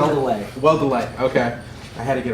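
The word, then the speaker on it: Weldele: And the artist was Brett Weldell. Am I pronouncing it? Weldelay.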